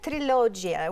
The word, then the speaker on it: Trilogia: I had Trilogia, which is that the right pronunciation, Trilogia. Signora? Perfect. Trilogia.